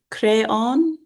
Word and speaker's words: Creon: Creon pronounced crayon.